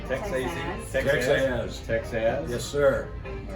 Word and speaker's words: Texaz: Texaz.